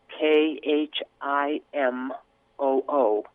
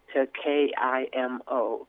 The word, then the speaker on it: KiMo: to the English form the sound of the Isleta word which more closely is pronounced KH i m oo the softer sound of the K the way it would be pronounced I the non native peoples the word was anglicized k IM o capital k small I